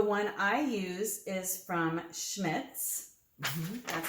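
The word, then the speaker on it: Schmidt's: process so the one i use is from schmitz that's how you say it schmitz schmitz yes i have seen that okay uh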